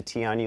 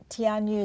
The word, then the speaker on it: Tianyu: And that light, Tianyu, is that how you pronounce it? Tianyu, yes.